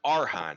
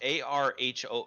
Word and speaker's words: archon: Well, it says it's pronounced Arhan. No, like the C Arhan. is silent. Oh, even better. So an Armage? It is pronounced Arho or Arhan.